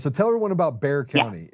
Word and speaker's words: Bexar: They said Bear County and I was like Bear Bear. I'm not in Bear. I'm in Beexar County. They're like, "No, you're in Bear County."